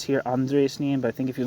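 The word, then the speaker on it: Andreu Nin: It says in Spanish it is Andres Nin, so maybe I'm saying it wrong. Andres Nin. Andres Nin, so I've been saying it wrong.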